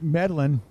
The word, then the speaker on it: Medlin: ride on that superjet my mistake there is an L in there it's hard to see Medlin I said medine but at first I looked at I thought oh maybe I'm saying it wrong it's there's not an L there and a on closer